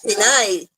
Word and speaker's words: Pinay: What's the female version? Pinay. Pinay. Just change Pinay the O to A.